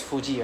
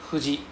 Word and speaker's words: Fuji: J I is Fuji, right? But we don't pronounce as Fuji in Japanese. We pronounce as huji.